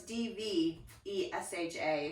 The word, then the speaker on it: Dvesha: And the playlist this morning is called Dvesha, but it's spelled with a V, so it's Dvesha if you're looking for that on the Spotify.